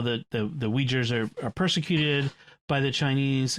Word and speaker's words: Uyghur: I do not pronounce that properly because once I sort of visualized the word, I could see it, but it does. I do not do the UI as we.